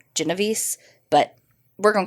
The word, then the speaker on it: Genovese: went by Kitty and I've heard her name pronounced a few different ways but it seems to be the consensus is Genovese but we're gonna call